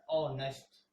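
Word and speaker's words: honest: एच में ये ऑनेस्ट जो है, ये एच साइलेंट है, इसको पढ़ा जाता है ऑनेस्ट।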